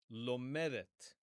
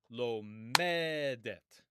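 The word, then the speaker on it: לומדת: And it is lomedet. And notice where the stress goes. The stress goes on the penultimate syllable, the next to last syllable, lomedet.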